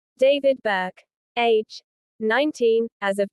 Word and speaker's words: D4vd: D-2 D4 VD the musical artist D4 VD pronounced David is a completely separate topic.